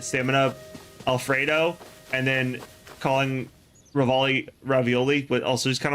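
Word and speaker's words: Revali: So do you say Rivali, like how it's spelt, or ravioli, like the food? I say Rivali, but we do have a joke where we call him ravioli as well.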